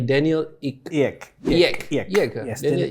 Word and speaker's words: Ek: If I can pronounce it correctly, Daniel Ek. Yes, Daniel Ek.